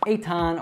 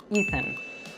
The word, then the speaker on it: Ethan: Like people will call me Eitan or Etan or Athan or anything like that, and actually it should be pronounced Ethan, Ethan.